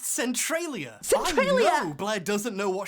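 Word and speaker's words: Centralia: Centrolia. It's actually pronounced Centriia.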